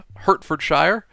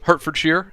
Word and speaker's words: Hertfordshire: Ian, you said you're in Hertfordshire. Um, Hertfordshire, sorry. Let's say it like a like a like a with the correct pronunciation, I suppose.